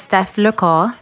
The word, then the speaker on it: Steph Lecor: just talking off the mic that it's French, and I speak French, so I'm trying to get it as close as possible. It's Steph Lecor.